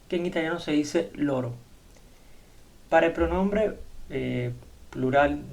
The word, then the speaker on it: loro: Y tenemos el pronombre ellos, ellas, que en italiano se dice loro.